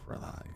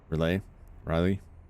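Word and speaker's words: R'lyeh: the underwater city of Riley. I always pronounce it off. Riley.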